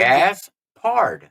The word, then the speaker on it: Gaspard: Yeah, but if you pronounce it out the way it's spelled, it's It's how nothing to it. Exactly. It's like it's nothing to Gaspard.